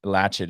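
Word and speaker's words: Latchit: The latchet Rack yeah and it's um latch it is they spell it l-a-t-c-h-i-t it's one word latch at Rack look it up it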